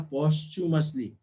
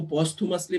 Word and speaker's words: posthumously: अब इसका मैं इसको थू पढ़ता था, उमेश सर मुझे च बता रहे, पोस्चुमसली. मैं इसको पोस्थुमसली पढ़ता था. तो आप जरा इसका प्रोनाउंसिएशन आज देखिएगा, समय मिले तो ग्रुप पे डाल दीजिएगा. सर च ही होगा, श नहीं होगा.